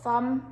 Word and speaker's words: thumb: b and we've got thumb now this time it doesn't sound like an e and you just don't hear the b next we've got knock